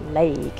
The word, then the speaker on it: Lewaigue: something like slope Creek don't be fooled by the spelling it's pronounced leg